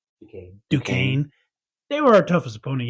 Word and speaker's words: Duquesne: After watching all these games, I mean, yeah, we, like he said, how do you pronounce that school's name? Duquesne.